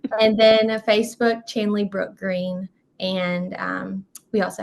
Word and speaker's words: Chandley: Yeah, so Instagram is Chandley_Green, spelled like Chandler, but a Y instead of an R. And then Facebook, Chandley Brook Green.